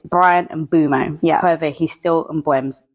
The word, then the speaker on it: Mbeumo: And Brian Mbuemo said his name is pronounced Brian Mbumo.